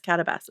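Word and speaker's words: Katabasis: Catabases. Is that how it's pronounced? Yeah. It's like Calabasas California, but it's Catabases.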